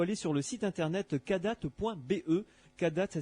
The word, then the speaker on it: Kadath: Donc il faut aller sur le site internet cadat.be. Cadat, ça s'écrit KADATH.be, et là vous allez pouvoir commander la ou les revues plutôt.